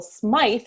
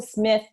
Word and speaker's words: Smyth: married um and actually ethel smythe who smith changing my pronunciation ethel smith um also never married